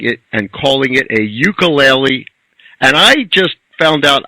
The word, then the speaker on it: ukulele: Yeah, well, it's actually made up of 2 Hawaiian words, which is uku and lele. And uku means flea in Hawaiian, and lele means jumping.